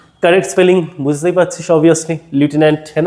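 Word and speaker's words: lieutenant: Correct spelling বুঝতেই পারছিস obviously, লিউটেন্যান্ট, হ্যাঁ না? এটাকে বলে থাকি লিউটেন্যান্ট, এটা প্রোনাউন্সিয়েশন লেফটেন্যান্টও বলে অনেকে, তাই না? But better use এ লিউটেন্যান্ট।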